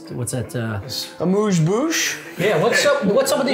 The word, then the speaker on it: amuse-bouche: Amuse-bouche. Amuse-bouche? I thought it was a bouche.